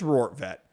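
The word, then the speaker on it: Rortvedt: let me juan ben i guarantee i'm saying it wrong i have to be saying it wrong no i am saying it right wow i actually have been i've been pronouncing this guy's name right i'm thinking it's like i'm not saying it right it is rort vet okay all right sweet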